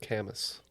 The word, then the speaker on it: Camus: Pronounced Camus. It's Camus. Albert, thank you. Oh, Albert Camus.